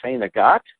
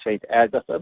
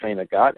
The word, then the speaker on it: St. Agatha: Then, Wednesday, just a few days from now, I'll be in St. Agathe. It's people who don't know the town say St. Agatha, but it's pronounced St. Agathe at Our Father's Place on Main Street.